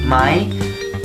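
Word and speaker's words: ไหม: Le mot « mai » qui se prononce donc avec un son qui monte, déjà se situe à la fin d'une phrase.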